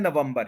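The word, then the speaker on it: November: हम कहते हैं नवंबर यह भी थोड़ा सा गलत है नवम नहीं है नो वम है वम नवंबर नवंबर नवंबर नवंबर नवंबर नहीं है वम नहीं है वम है नवंबर नवंबर मिडल में स्ट्रेस है थ्री सिलेबल है सेकंड वाले पर स्ट्रेस है जो कि सेंटर में है नवंबर नवंबर नवंबर और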